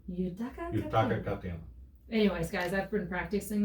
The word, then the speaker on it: Yutaka Katayama: No, it's Yutaka Katayama. Yutaka Katayama. Yutaka Katayama.